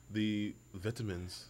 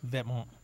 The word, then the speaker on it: Vetements: The vitamins. Vetements. This is America. The vitamins. It's pronounced.